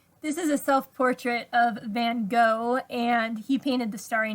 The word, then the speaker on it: Van Gogh: This is a self-portrait of Van Gogh, and he painted The Starry Night. And I've actually seen his name pronounced Van Gogh as well, so there's some facts for you.